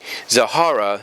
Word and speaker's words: Zahara: demonstrate to her friend zahara that z-h-a-r-a zahara not the other way i pronounced it in some of the reviews and stuff but basically